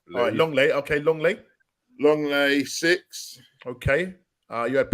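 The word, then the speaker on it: Lenglet: can't pronounce his name it looks like lingley but he's pronounced long layoff Longley okay long late long lay six okay uh you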